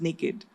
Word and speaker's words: nykd: and it's actually pronounced naked by Nika so as good as naked or as comfortable as being naked um as I start